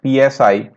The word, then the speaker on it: psi: known as psi, and psi is written as psi, where p is silent, and this wave equation